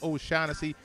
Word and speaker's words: O'Shaughnessy: they talk about chag it's okay to say his name James o shanesy one of the most